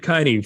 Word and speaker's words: Keine: reminded me that it that it rhymes with Heine Dave keaney from pod Chaser he's